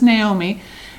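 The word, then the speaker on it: Gnaomi: And then they have one Naomi, and of course all of them are spelled with G-N-A-O-M-I and G-N-O-H, but this is Naomi.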